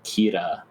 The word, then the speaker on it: Kira: for himself as like Kira which is I think just like Japanese pronunciation of killer say Kira k i r a